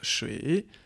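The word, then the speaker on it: 水: Ensuite, le troisième caractère, plus tu montes, plus on rentre dans le détail, n'oublie pas, c'est le caractère qui se prononce shui, qui veut dire l'eau.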